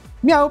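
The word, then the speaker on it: MEOVV: Miau, pronunciado como daría un gatito, Miau en coreano, es el primer grupo femenino lanzado por The Black Label.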